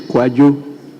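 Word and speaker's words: Kwadwo: directorate National Democratic Congress his Cojo is spelled Kwa a d wo not k o j o thank you rable speaker so his is quu quu T office kindly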